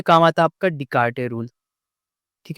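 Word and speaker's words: Descartes: नहीं मैं स्पेल सही कर रहा हूं। एस साइलेंट है।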